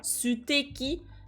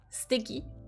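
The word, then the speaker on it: すてき: staki donc en général on prononce pas trop on insiste pas trop sur le sucre on dit pas su t'es qui mais plutôt sticky comme s'il y avait pas vraiment le E c'était qui steakhini Nani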